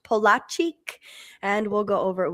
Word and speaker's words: Polaczyk: It is pronounced Polaczyk, and we'll go over it when we come back.